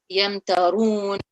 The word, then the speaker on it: يمترون: So that Ra would be read in a heavy way because there is a rule, Yamtarun.